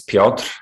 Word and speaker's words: Piotr: the virtual space so my name is piotr if you can pronounce it in polish or in spanish or peter in english because sometimes it's hard